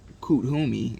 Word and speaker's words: Kuthumi: Cthulhu, pronounced as Kuthumi, I said it wrong, is an ascended master who appears as a well-dressed Indian man with a golden aura.